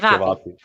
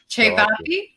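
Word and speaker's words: ćevapi: Chevapi. Chevapi?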